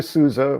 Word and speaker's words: Sousa: I did that on purpose because you came to Sousa, which is how I was taught OUSA is pronounced.